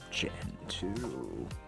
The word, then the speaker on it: Gentoo: we're going to do gen 2 this what we like welcome gen 2 linux if you say it right it sounds like you're saying the second generation of linux rather than talking about gentoo you know no shift